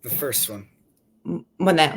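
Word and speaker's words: Moné: I don't know how to pronounce her last name correctly. Yeah, correct. The first one. Monet, right?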